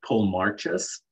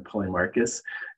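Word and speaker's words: Polemarchus: when i started reading plato's republic i phonetically pronounced that the name of paul marches rather than paulie marcus telemachus um it it's so funny because like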